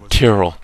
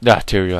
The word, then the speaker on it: Tyrael: Oh shit, Tyrell. Angel of the high heavens. I was the embodiment of justice. I am Tyrael. Tyrael, I said it wrong.